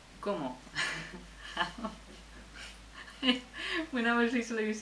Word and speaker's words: cómo: And it's spelled like I eat, como, but with an accent on the first o, como.